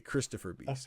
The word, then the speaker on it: Christifer Beast: It's Christopher Beast. I see. It's spelled Christifer Beast. Okay, Christopher Beast.